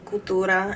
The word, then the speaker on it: Cultura: you said La Cura it's culture but an a at the end instead of an e see you l t u r a Cultura and La l a c u l uh T R A hg.